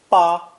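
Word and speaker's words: 巴: Originally, today's character, pronounced first tone ba, ba, apparently came from a drawing with different interpretations.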